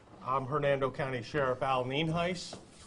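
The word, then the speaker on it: Nienhuis: hernando county sheriff al ninhais it's spelled n-i-e-n-h-u-i-s and it's pronounced nien heiss we also have a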